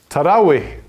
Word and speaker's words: Tarawih: Tarawih. Ich hab's nice ausgesprochen, oder?